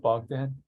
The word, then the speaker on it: Bogdan: here today so please correct me if I mispronounced your your name yeah um is it is it bogged in yeah yeah okay awesome all right say hello